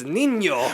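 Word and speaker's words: Niño: What did I say, Nino? El Nino. It's Nino. What's funny is in my head I was like, I'm going to say it wrong. I'm going to say El Nino, and then my instinct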